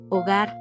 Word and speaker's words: hogar: Note that the letter H is silent in Spanish. Like in a word, hogar, or home, let remind you that learning Spanish is like building a hogar.